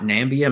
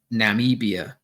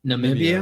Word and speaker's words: Namibia: Maybe it's not Nambia. Maybe it's Namibia. Oh, Namibia. Yeah. Yeah. Okay. N it's N A M I B I A. Yeah. Yeah. Namibia, I think, is how it's pronounced.